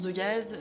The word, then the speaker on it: Degas: Bon, entre nous, il y a toujours voulu qu'on prononce Degaze, mais on va appeler Degas.